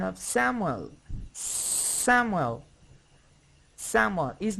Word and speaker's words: Samuel: Look at the pronunciation of Samuel.